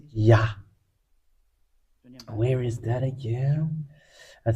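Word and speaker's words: יה: You should not change anything anymore because the ancient Hebrew have saying that it's Yah. That's how we read it, and that's why we read the Psalm 150 verse 1, and it is Hallelujah. Let's get into that. This is the Hallelujah. So the way we read this is Yah.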